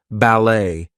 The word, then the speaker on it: ballet: a J but anyway T is going to be silent in some words there might be words that are borrowed from other languages Etc so things like ballet Gourmet we are not going to pronounce the te there she's a ballet